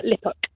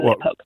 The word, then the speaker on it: Liphook: I monger cheese in Liphook in Hampshire. So you're in Guildford today? I'm in Guildford most days. Is that how you pronounce it? Liphook, not lip hook.